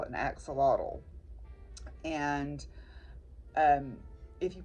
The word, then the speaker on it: axolotl: And if you pronounce it in the Noat people's native language, the X is pronounced with an SH, and a TL is mostly a T sound, a hard T sound.